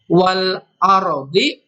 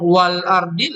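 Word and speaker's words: وَالْأَرْضِ: Wal a lamnya dibaca jelas, beda dengan tadi khalqis samawati. Alif lamnya tidak dibaca dengan jelas, tapi yang sekarang wal ardi lamnya dibaca jelas.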